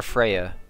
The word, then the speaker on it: Freja: Yes, I'm Freja. I'm gonna call her Freya because, like, the J is pronounced like.